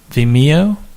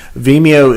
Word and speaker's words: Vimeo: How do you pronounce this company's name? I'm so not a cool kid. Is it Vimeo? Vimeo.